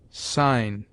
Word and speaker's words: sign: G is mute before N, as nash, sign, foreign.